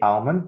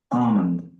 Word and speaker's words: almond: not pronounced so almond in the US they say almond but in the UK they would say Armond Armond yeah okay there's